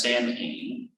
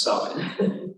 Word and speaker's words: Samhain: called salad it looks like it should be pronounced samhain but it's pronounced solid because it's an irish word and they do